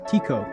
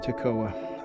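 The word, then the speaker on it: Tekoa: I just learned I've been saying this town wrong. It's pronounced Tiko instead of TCOA.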